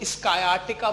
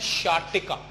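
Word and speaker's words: sciatica: देखो, शार्टिका को स्कायाटिका बहुत लोग प्रोनाउंस करते हैं, स्कायाटिका, स्कियाटिका, पता नहीं क्या क्या प्रोनाउंस कर रहे होते हैं। ठीक है, इसकी जो करेक्ट प्रोनाउंसिएशन है आप जिंदगी में हमेशा याद रखेंगे, मैं आपको बता रहा हूं, इसकी करेक्ट प्रोनाउंसिएशन है शार्टिका, शार्टिका। ठीक है, स्कायाटिका नहीं, इट इज प्रोनाउंस्ड एज शार्टिका।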